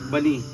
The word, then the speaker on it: Bani: ba tayo ngayon nasa bani kuya Ano po bang tamang ano pronunciation? Banny or bani? Banny banny. Oo.